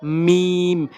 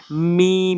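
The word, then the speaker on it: ميم: লাগাবেন সঠিক উচ্চারণ করতে মিম দুই ঠোঁটের শুকনো অংশ মিম মিম এভাবে উচ্চারণ করবেন এরপর হচ্ছে ওয়াও অর্থাৎ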